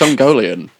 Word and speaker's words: Ungoliant: No, it's not. That's not how you pronounce it. How do I know? I don't know. It's Ungolian.